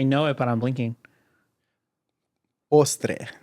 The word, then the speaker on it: postre: Postre. Postre. There you go. Did I pronounce that right?